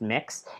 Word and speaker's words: Mx: isn't Mr or Mrs it's spelled MX it's pronounced mix it works with every